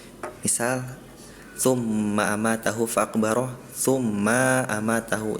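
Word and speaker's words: ثُمَّ: surat abasa banyak tummanya itu maknya tadi dibaca terdengarnya panjang yang seharusnya pendek misal tumma amatahu faqbaro tumma ma amatahu.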